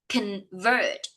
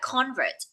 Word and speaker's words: convert: Con, convert. Do not read it like convert because the stress of the words lay on the second syllable.